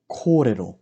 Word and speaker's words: kōrero: Ko, re, ro. Kōrero.